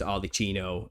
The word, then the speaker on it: Arlecchino: It's pronounced Arlecchino in Italian, and that's where we get Harlequin from.